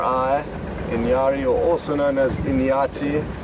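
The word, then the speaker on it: inyari: going to give you the easiest spelling for pronunciation purposes so in gloo is elephant Inari i n y a r i Inari or also known as inati is Buffalo L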